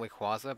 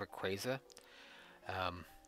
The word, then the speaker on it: Rayquaza: I always call him Wickwaza, but I think it's Rayquaza.